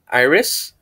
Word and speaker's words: iris: Iris, not Mr. Harris, this is iris.